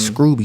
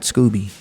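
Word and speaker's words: Scruby: artist called uh cow scrooby shout out to cal scrooby he's got a video called underground it's pretty dope that's scrooby not scooby yeah s-c-r-u-b-y i thought it was scrubby but in a recent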